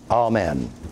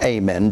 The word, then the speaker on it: amen: in the whole book, amen, or amen, depending on whether you are pronouncing it according to the pronunciation guide in the Bible, or whether you're, and I'm not saying the other's an incorrect pronunciation. I've got to check it out in a dictionary. Probably both of them are okay.